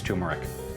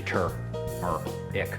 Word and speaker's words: turmeric: and letting people know that you actually have to pronounce the R, because a lot of people still think it's turmeric. It's actually tur, or ick.